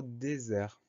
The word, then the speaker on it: désert: Ensuite on va avoir le son Z qu'on va obtenir avec un simple S, puisqu'il est entouré de deux voyelles, le E à gauche, le E à droite.